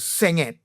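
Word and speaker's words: senget: go and I said it's called sing it is spelled s e n g e t sing it so they tell me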